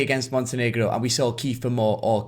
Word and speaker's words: Kiefer Moore: But the false 9 tactic didn't stay against Montenegro, and we saw Kiefer Moore, or Clefer Moore as the stadium announcer pronounced it.